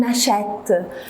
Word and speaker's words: achète: On n'a pas doublé le T, mais on a mis un accent grave pour le E, pour la prononcer est. On achète.